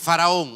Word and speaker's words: Faraón: Por eso la pronunciación correcta de Faraón es Faraón, o sea, el hijo de Ra.